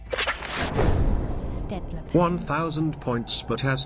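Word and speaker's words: Staedtler: My favourite pens are the, I can never say it right, it's Stedler. Stedler pen.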